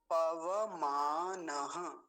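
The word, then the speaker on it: पवमान: है अग्नि ऋषि अगला पव मान पव मान कई लोग गलती कर रहे हैं इसको क्या बोलते हैं पव मान पव नहीं पव ऐसा उच्चारण करेंगे पव पव मान पव मान और अगला शब्द क्या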